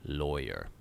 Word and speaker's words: lawyer: how do you pronounce the first syllable of lawyer it rhymes with boy lawyer even though that seems odd I know but that's how I pronounce it not rhymes with flaw okay good so that's